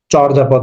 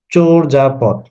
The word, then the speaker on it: চর্যাপদ: বলি অনেকে এটার উচ্চারণটা চর্যাপদ বলে আসলে চর্যাপদ হবে না এটার উচ্চারণ হবে চোর যাপথ ঠিক আছে চোর যা